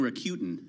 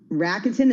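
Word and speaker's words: Rakuten: this stuff I've now I've grown up saying rutin um but maybe it's raketen let's ask our next guest yeah let's do that Julie van ullen she's a chief Revenue officer for raketen who pronounces it right Julie rackton is the way to go all right well I've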